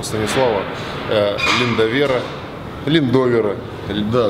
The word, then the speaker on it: Линдовера: Линдовера. Да, Линдовера. А вот в русском языке же нету, да, правил, как ударение ставится?